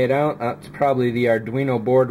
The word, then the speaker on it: Arduino: youtube for it too it's really spelt weird though are arduino at least that's how i'm pretty sure that i've heard it pronounced so it looks like